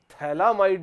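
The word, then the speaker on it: phthalimide: थैलामाइड भी हो सकता है अगर खाली एक से NH2 लगा दे तो। पर ये है थैलीमाइड। पीए साइलेंट है।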